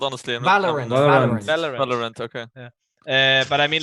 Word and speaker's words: Valorant: How did you pronounce it, Alan? Huh? Valiant, or what's the game called even? What's the game called, honestly? Valorant.